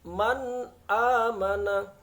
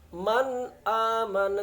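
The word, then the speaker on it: مَنْ آمَنَ: dengan huruf hamzah maka cara baca Nun matinya harus jelas Man amana Man aman tidak boleh dibaca Man am salah yang benar Man amana seperti itu kemudian contoh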